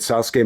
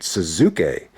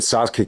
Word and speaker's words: Sasuke: on to the great Sasuke match uh Ben W was actually pronouncing it as the great suzuk but however you want